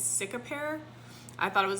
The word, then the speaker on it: Cicapair: It's Cicapair. I thought it was like Cicapair, but it's not.